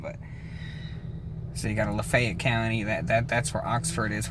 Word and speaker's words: Lafayette: Same thing with Lafayette. Like you got the city Lafayette, but in Mississippi, you say Lafayette. I don't know where they got that from, but so you got a Lafayette County.